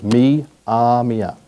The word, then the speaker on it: Myaamia: Mia, their traditional name for themselves, Mamia.